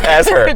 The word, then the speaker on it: Asher: yes, it's as her. Jacob as her. Jacob as her. That's how I'm credited.